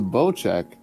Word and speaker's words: Bocek: Oh, it's pronounced the Bocek. I got that wrong.